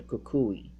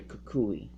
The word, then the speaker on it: Kukui: So now I know when I play the game or I watch the anime that his name is Professor Kukui. So that's, that helps me understand how to pronounce his name.